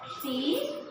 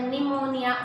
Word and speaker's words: pneumonia: I am writing here Pneumonia. Here in this word, P is silent. So, we have to speak out that word pneumonia, spell that word pneumonia.